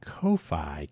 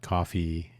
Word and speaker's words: Ko-fi: Dan's uh Dan's Kofi Kofi coffee. The best way to pronounce that is tricky. I don't want to confuse. It's not coffee. It's kofi.comhugo.